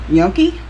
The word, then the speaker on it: gnocchi: Today, we are going to do what's called, let me pronounce this right, gnocchi.